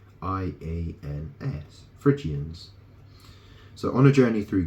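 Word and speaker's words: Phrygians: city of the frians Frans that's spelled that is spelled p HR y g i a NS frians so on a journey through gordum the chief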